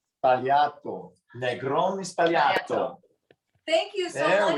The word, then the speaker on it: Negroni Sbagliato: It's Negroni Sbagliato. Sbagliato. Negroni Sbagliato.